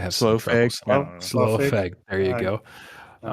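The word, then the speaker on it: Slough: Lord weird, how it's lo, how do you pronounce that? I have slow.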